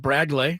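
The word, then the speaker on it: Bradgley: right-handed reliever, 21-year-old Bradley Rodriguez, B R A D G L E Y, pronounced Bradley according to baseball reference.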